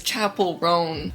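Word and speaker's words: Chappell Roan: the rest of the evening her name is Chapel rone I mispronounced it earlier I don't want don't hate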